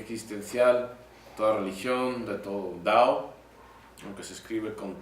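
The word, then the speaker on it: Tao: de toda estrategia existencial toda religión de todo dao aunque se escribe con t se pronuncia dado por cierto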